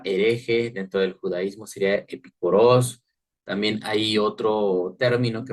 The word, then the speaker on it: epicoros: el tema o es esta palabra que se pronuncia epicoros epicordio decía pues De